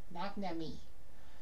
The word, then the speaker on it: McNamee: And I think I pronounced his name correctly. Perfectly. McNamee.